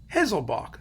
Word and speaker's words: Haselböck: Hessel ball now hazel bach how do you pronounce this name a hazel bach hazel bach that's it Martinez loboc is a wonderful conductor